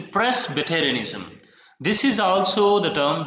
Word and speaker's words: Presbyterianism: And one more term we have, Presbyterianism. Sorry, I should pronounce this word like Presbyterianism. It's not a pre, it's a Presbyterianism.